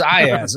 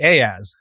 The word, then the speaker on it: Iyaz: So the correct pronunciation is not Iyaz. It is now. Oh, it's Iyaz. Yeah. I mean, it's Iyaz. I've completely like my folks used to call me Ayaz, and that's another name though.